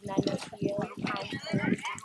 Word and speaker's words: Nana Field: right now with the owner of Nano Field.